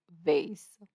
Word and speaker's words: vase: can pronounce this word whether it said vas like ma or V like Haze generally the former is the British version and the latter the American when eBay users were